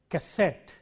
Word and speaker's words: cassette: words of these patterns let us take words ending in ET te words like cassette or cigarette in all these words the stress is on the last syllable cigarette cassette and so on then